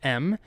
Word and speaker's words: em: to another relative unit the M and generally this is pronounced M the name M doesn't